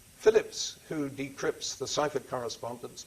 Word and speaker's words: Philippes: The name is spelt Philippes, but that's simply a variant of Phillips. It's Phillips who decrypts the ciphered